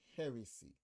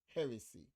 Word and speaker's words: heresy: hearsay or hearsay and heresy the second one the stress is on the first syllable heresy notice how it is